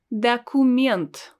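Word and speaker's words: документ: we have a word da cumint da cumint the coomient again as you can notice i don't pronounced o as it's written i pronounce it as a because it's not stressed the comment a document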